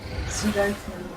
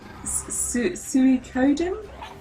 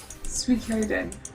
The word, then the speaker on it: Suikoden: The original pitch was trying to get the presentation from Sudoku. No, that's not it. I can't. Sukoden. So, for some reason, I can't pronounce that word. What? Suikoden? Oh. Yeah. Suikoden.